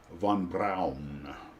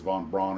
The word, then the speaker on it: von Braun: Von Brown, you know, as I understand it, the proper way to say that is Von Brown, but everybody says von Braun or Von Brown because we're Americans.